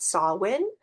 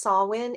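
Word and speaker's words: Samhain: both of those decks this one is called sawin see how it's pronounced there if you can read backwards that is pronounced sawin it is one of the high holy days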